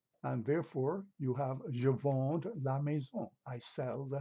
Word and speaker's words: vends: Note that the S at the end of a verb in the French language, the verb sound, is not pronounced.